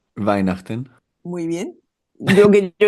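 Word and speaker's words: Weihnachten: Y en alemán que se pronuncia, ¿cómo se pronuncia? Vainachten.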